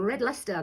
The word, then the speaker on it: Red Leicester: and we have just uncovered some red luster that's how you say it so I'm going to